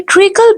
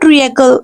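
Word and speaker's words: treacle: शीरा को इंग्लिश में ट्रिकल बोलते हैं दिस इ नॉट ट्रकल नो नो A will be silent year the word will be ट्रिकल the word will be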